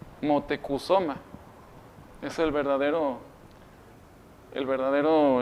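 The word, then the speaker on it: Motecuhzoma: va modificando y pues le cambian Moctezuma a un cómo se puede decir a una pronunciación más cercana pero la verdadera pronunciación es mutekusoma motecusoma es el verdadero el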